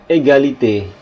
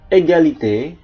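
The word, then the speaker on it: égalité: Oke jadi di sini kalau huruf g-nya diikuti huruf vokal u a o dibaca G baget egalite glase riger glas glob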